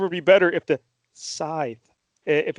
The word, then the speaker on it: scythe: and apparently mike gel the correct way to pronounce that weapon is scythe sign okay here you're